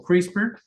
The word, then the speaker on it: CRISPR: Lo pueden buscar como CRISPR. Esto es una cosa muy, muy, muy importante y reciente, se pronuncia así, son unos clusters, de